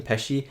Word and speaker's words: Pesci: sure that joke pes pesci that is how you say his last name peshi i'm pretty sure joe